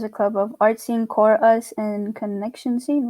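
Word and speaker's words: CoreUs: students um and then the core us is the chorus but it's spelled c-o-r-e and then second word us because at your core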